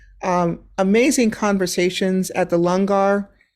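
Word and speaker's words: langar: amazing conversations at the lungar spelled l-a-n-g-a-r but pronounced longar um with the Sikh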